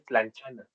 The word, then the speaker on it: tlanchana: que el nombre, imagino, ¿la T se pronuncia o es lan- lanchanita? Ajá, no, sí se pronuncia tlanchana.